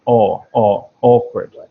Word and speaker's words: awkward: Yeah, you've really got to emphasize the first sound. Awkward.